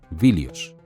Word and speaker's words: Ilion: En griego antiguo, Ilion, el otro nombre de Troya, se pronuncia originalmente Vilius.